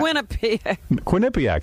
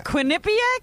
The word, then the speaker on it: Quinnipiac: to do some college show in quinnipiac yeah quinnipiac that's how you say it it's quinnipiac yeah quinnipiac that's right am i right it's